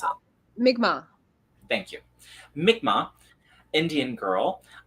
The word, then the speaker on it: Mi'kmaq: How do I pronounce it? Mi'kmaq.